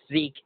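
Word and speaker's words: Sieg: because because you know zek is the pronunciation of the German word for victory which is spelled s i e g or if you're German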